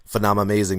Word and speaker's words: Phenomamazing: Like, what does Phenomamazing mean to you? Am I saying it right?